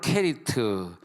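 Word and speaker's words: כְּרִית: 히브리어로 케리트. 이 케리트가 왜 케리트하고 그릿하고는 전혀 발음이 다른데 우리나라는 그냥 우리나라 발음에 한계가 있으니까 그냥 그릿이라 그랬어요.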